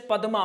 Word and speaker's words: पद्मा: जैसे पद्मा में तो आप क्या करेंगे? समझ जाएंगे कि इसमें आधा द पूरा म और आ है तो हम इसको दमा के रूप में प्रयोग करेंगे। दमा यानी दमा। कैसा होगा? दमा। तो क्या हो जाए? पद्मा।